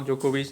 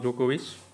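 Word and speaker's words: Djokovic: जाता है तो नोवाक जोकोविच है ना डी यहां पे साइलेंट है तो ऑस्ट्रेलियन ओपन में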